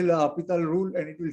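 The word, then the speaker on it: L'Hôpital: This other one is also extremely important, and the different books list the author's name or the name of the mathematician with the S or without S. I don't know, Hopital rule is the pronunciation, but some write it with SP and some without S.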